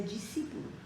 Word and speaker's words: discípulo: Aqui colocamos discípulo, colocamos essa letra S, mas na realidade a pronúncia é discípulo, não se pronuncia a S.